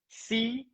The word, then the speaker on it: Sicce: It's pronounced, folks, Sicce.